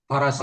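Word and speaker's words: فرس: Farasi, Wal fars, farasi. Bifathir ra, faros. oh faras kuda. Ya, faras bacanya.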